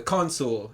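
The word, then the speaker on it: consul: to this personality type which is the console I think that's how you pronounce it c-o-n-s-u-l and the letters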